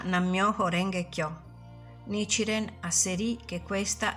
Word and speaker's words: Nam myoho renge kyo: si pronuncia Nam myoho renge kyo Nichiren hasserie che questa è la legge della